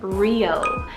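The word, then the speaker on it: Riau: It's actually a huge chain of like 1,700 islands in Indonesia, and that is the name Rio. So it's spelled R-I-A-U.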